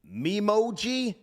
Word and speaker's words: Memoji: familiar with emojis, but there's something also called mimoji. Is that the correct pronunciation? Yeah. Do you know? Is it Memoji or Memoji? Do you know? I think it's emoji. No. Emoji. No. An emoji. It's Memoji.